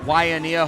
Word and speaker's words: Waimea: He's all the way out here from Waimea, Hawaii, and I did pronounce that right.